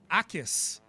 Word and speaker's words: Jacas: It's spelled Jacas. It's Gabe Akis.